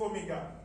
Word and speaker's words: omega: And symbol for angular velocity is omega. It looks like W. But then it only looks like W, but it is pronounced omega, the last Greek alphabet.